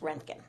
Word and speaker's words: roentgen: even though it looks like rongkhun it's typically pronounced roentgen yep very nice all right let's see how